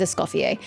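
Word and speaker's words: Escoffier: Okay, good to know that one, I pronounced her name correctly. It is Escopier.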